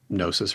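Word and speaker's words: Gnosis: So nosis rhymes with hypnosis. It's got a G on it.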